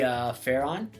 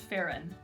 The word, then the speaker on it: Pharaon: Maybe Pharaon? It's actually pronounced Farron.